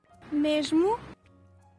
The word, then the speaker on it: mesmo: festa, As such, before a voiced consonant, they're pronounced as j. An example being the word for same. mesmo, The letter X.